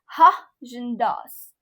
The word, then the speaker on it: Häagen-Dazs: Actually, it is pronounced as Haagen-Dazs. Haagen-Dazs. Sounds Danish, invented in the Bronx, the greatest ice cream prank ever pulled.